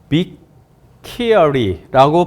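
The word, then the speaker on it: Bicchieri: 설명을 하는 거예요 그래서 저자는 어 비 키어리라고 발음을 하더라고요 크리스티나 비키고 유니버스티 펜실베니아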